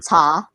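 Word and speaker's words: 茶: two different names for the chinese name ta which is the actual pronunciation oh okay yeah interesting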